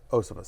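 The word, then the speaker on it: Iosivas: Higgins has missed, and again, before you even get to, how do I pronounce it? Andre Osivas. Osivas, thank you very much.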